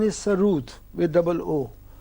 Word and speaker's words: sarod: The actual pronunciation is Sarud with double O.